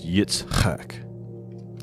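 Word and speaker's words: יצחק: So it's Yitzhak is how it's pronounced.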